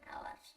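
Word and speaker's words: hour: এখানে এইচ এর উচ্চারণ সাধারণত এখানে এইচ এর উচ্চারণ অ হবে, আওয়ার, এখানে আওয়ার বলা হয়, এইচ এর উচ্চারণটা এখানে হয় না।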